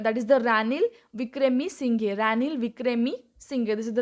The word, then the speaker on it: Ranil Wickremesinghe: Ranil Wickremesinghe. This is the right pronunciation. Ranil Wickremesinghe.